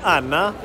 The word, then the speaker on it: Anne: There's like Anne, A-N-N-E is like Anna.